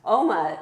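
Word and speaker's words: Omagh: Oma, Northern Ireland.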